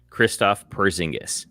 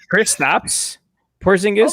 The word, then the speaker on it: Kristaps Porzingis: Christoph Porzingis. Christoph. Try again. I was going to say try again. Love those Europeans, and I love the Europeans. Just don't know how to pronounce the names. I mean, should we have Kristaps Porzingis?